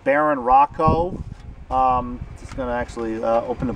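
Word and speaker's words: Barón Rojo: I heard the name pronounced Baron Rojo before, but in the booklet, when I was looking at it, it says something about it being pronounced Baron Rocco.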